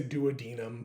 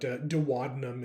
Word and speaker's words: duodenum: I think I say duodenum, but duodenum is also correct.